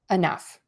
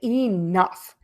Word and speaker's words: enough: Tough, rough, enough. You also might hear people say enough. I hear that a lot, especially when people are stressing that word. They'll make that E really long.